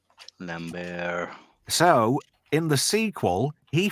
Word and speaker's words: Lambert: everybody was saying Christopher Lambert, but it's actually Lambert. Lambert. So in the sequel, he fronted some money up for the production of the movie, and it says Lamb Bear, as in animals, entertainment, just to get that across to people.